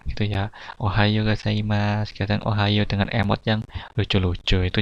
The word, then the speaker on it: おはよう: Ohayo gozaimasu, kadang ohayo dengan emot yang lucu-lucu, itu Jepang ya.